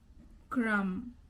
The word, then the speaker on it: crumb: When you see MB. or okay, MB is there, then you don't have to say B, you just have to say So crumb, no B sound. Comb, no B sound.